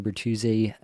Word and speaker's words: Bertuzzi: Tyler Bertuzzi, some people might.